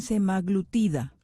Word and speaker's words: semaglutida: efectos secundarios del semaglutide se pronuncia así floral semaglutide en inglés y en español le dicen semaglutida semaglutida Qué es la